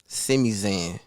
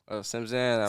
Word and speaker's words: Simzan: So, who is Simizan? Simzan. Simzan. Did I say it wrong? Yeah, Simzan. My bad, man.